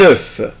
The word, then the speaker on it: œuf: œuf œuf يعني بيضة، واحنا قلنا قبل كده ان لما تكون كلمة واحدة بيضة واحدة بس بنطق حرف الاف un œuf، انما لما تكون الكلمة في البلوريال في الجمع يعني في بعد الاف حرف الاس مش هنطق الاف، هقولها des œufs des